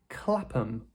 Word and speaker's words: Clapham: Another common pattern is removing the H sound. So rather than saying Clapham, Clapham. We'd say Clapham Clapham.